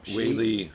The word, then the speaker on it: Weili: Weili.